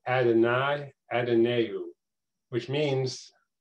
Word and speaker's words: Adonai: were reading this out loud i would say adonai adenau that's the first two words there and